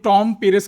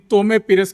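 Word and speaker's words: Tomé Pires: কারণ হচ্ছে আমি টম পেরেস করেছি। উনি তমে পেরেস করেছেন আমার ধারণা যে উনি শুদ্ধ।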